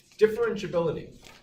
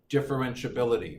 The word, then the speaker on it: differentiability: last page it should look something like this differentiability is a seven syllable word tip fur wrench bill and see